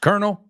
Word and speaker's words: colonel: and the second word k-e-r-n-e-l so when you get to the bottom of the popcorn you'll have kernels well no they're pronounced exactly the same yeah excellent job so